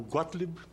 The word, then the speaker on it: Gottlieb: E diga o sobrenome aí para ficar claro, para a gente não errar a pronúncia depois. Bom dia, senador. Muito obrigado pelo convite. Meu nome é Gottlieb.